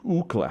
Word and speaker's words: Ookla: I think it's Ookla. How do you pronounce it?